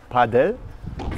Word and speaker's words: Padel: That's pádel in Spanish, but we in Germany pronounce it paddel tennis.